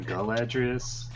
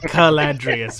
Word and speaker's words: Caladrius: that as well yeah are you sure it's not galadries i know he's specifically caladrius with a hard c um so you have